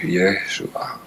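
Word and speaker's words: ישוע: c'est ce nom de Jésus Yeshua qu'on prononce comme ça ce nom de Dieu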